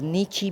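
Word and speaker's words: 日: For example यह जो नी है इसको नी भी प्रोनाउंस कर किया जा सकता है और नीची भी प्रोनाउंस किया जा सकता है।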